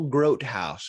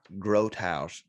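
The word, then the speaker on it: Grotehaus: good friend named joel his name is joel groat house and i was i've been saying his name wrong for a long time it's joel grote house and he's a grot i think h-a-u-s maybe that's right i'm about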